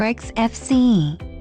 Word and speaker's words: XFCE: to xfc exfce or xfc pronounced as four individual letters is a free and open source desktop environment or Linux and other Unix like operating systems xfce aims to be fast